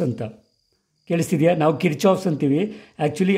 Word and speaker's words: Kirchhoff: But actually, foreign accent ಅಲ್ಲಿ ಇದು ಕೇಳೋದಾದ್ರೆ, this actually name sounds Kirkhofs ಅಂತ. ಕೇಳಿಸ್ತಿದೆಯಾ? ನಾವು Kirchhoffs ಅಂತೀವಿ.